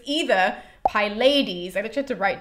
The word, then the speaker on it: Pylades: It's either Pylades or, okay, I wrote this one down, but it sounds exactly like the other ones, but it sounds more like Pilates.